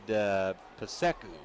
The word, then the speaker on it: PSECU: When Sean came in, I asked him, he said, Paseku.